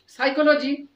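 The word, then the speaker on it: psychology: সাইকোলজি বানানটা PSY, এস এর পূর্বে যদি পি থাকে সেটা অনুচ্চারিত, ইংলিশে বলা হচ্ছে সাইলেন্ট ওয়ার্ডস।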